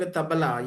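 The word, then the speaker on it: tabla: was able to understand tabala. Yeah. Yeah. Tabala. Initially the initially the pronunciation was taw towel like you after having bath you wipe right towel.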